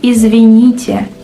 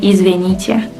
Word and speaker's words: извините: We say извините, but people often mispronounce it, even natives, and say извините. Why? Simply because in fast speech the E kinda sounds like yeah.